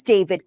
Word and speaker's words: D4vd: singer who goes by the name David. It's spelled with a four.